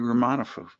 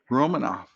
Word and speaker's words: Romanufa: awesome guest ramona so i said that right room monifa it's actually rolling off but it doesn't really matter romanov the a at the end is silent yes as i should